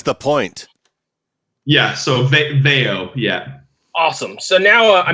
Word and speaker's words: Veio: the name of the band how do you pronounce the name of the band Veo Veo you were right I was wrong I